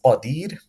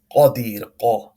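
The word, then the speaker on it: قادر: And this is qadir, not qadir. Is incorrect to say qadir. This is not qadir. This is qadir, qadir. This qaf has to be pronounced heavy.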